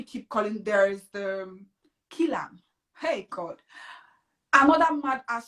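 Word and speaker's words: Killam: Kilam, like like kill and arm, like Kilam, like you get, yeah.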